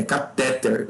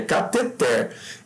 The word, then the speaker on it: cateter: Mas não é catéter. Desculpa, o pessoal insiste em falar catéter, mas não é. Se fosse catéter, teria acento, tá? Ele é cateter.